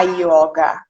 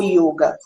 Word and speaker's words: yoga: no vocabulário né é a pronúncia correta pronúncia antiga na escrita é yoga é o ioga não é a yoga não é não é uma coisa aberta mas eu acho que é claro é um manta né cada vez que você pronuncia alguma coisa você deve pronunciar da forma correta que é o yoga mas eu acho que